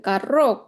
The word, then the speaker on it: carro: Caro with one R, it's expensive, and carro with the two R's, and the way this sounds, it's a car.